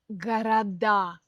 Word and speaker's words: города: Например, в форме множественного числа часто переходит ударение на окончание. Видите, я хотела сказать раньше, чем подумала. Эээ, например, город, города, берег- берега.